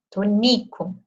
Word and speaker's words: Tonico: E aí eu não tenho o acento, porque eu estou pronunciando mais forte essa sílaba aqui do meio, o ni, tonico, certo?